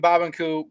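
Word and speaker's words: Barbancourt: and if you're wondering why I'm saying babanku that's how they say it in Haiti but Barb in court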